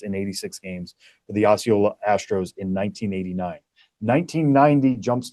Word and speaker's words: Osceola: 1989 goes to, and I always get this name wrong, Osceola Astros. Yeah, Osceola Astros.